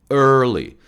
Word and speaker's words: early: early. 자, 이 발음 참 많이들 잘 안 되는데요. 혓바닥을 좀 안쪽으로 끌어당기세요. early, early.